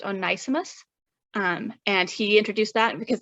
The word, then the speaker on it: Onesimus: via an enslaved African named, I think it's pronounced Onesimus.